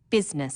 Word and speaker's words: business: u g words business people don't pronounce the I business sometimes misspellings occur because